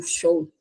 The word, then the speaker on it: Zhou: E eles começam a aparecer na dinastia Shang e também nos vasos rituais de bronze da dinastia Shang e Zhou, ou Shou, como se fala, tá?